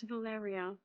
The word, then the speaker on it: Valeria: No, Valeria. Oh, it's Valeria. That's how you pronounce it.